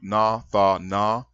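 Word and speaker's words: נתן: first person common singular from the root na tha na and pronounced nathan which means to give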